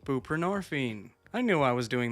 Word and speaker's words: buprenorphine: me go look these up so I can pronounce them correctly. Okay, that was right. Suboxone, buprenorphine.